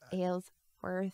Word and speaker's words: Aylsworth: and so I'm able to you're worth it ale's worth well you gotta keep that going though I